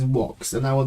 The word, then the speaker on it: Vox: of this episode is what everyone says box but you know in Latin the V letter is pronounced with a worse sound so this is walks and I will not